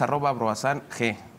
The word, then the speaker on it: Broissin: En redes sociales, @broasang, es BROISSING, ese es el Twitter del sello editorial. Se escribe Broisin. Broisin. Y se pronuncia Broasan.